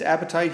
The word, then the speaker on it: apatite: the the fertilizer industry this appetite here which is not an appetite but it's spelled apatite is principal mineral that